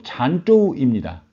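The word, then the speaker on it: 澶州: 전주는 중국 발음으로 잔조우입니다.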